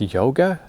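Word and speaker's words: Jóga: homogenic there's this song it's written j-o-g-a but i don't know is that pronounced yoga i don't know how you pronounce jays in icelandic but anyway beautiful song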